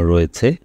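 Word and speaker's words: ঋ: এর পরবর্তী যে বর্ণটি আমাদের সামনে রয়েছে সেটা হচ্ছে রি। এটা খুব স্বাভাবিকভাবে আমরা শুধু খুব সিম্পলি আমরা শিশুকে রি বলে পরিচয় করিয়ে দিব। আমি আবারও বলছি, এই স্বরবর্ণের উচ্চারণটি হচ্ছে রি।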